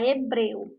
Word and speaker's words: hebreu: do nosso outro exemplo a palavra hebreu e aqui nós temos herdeiros-376 letras mais quando nós falamos nós não pronunciamos a letra h porque a letra h não tem o que não tem som então neste caso nós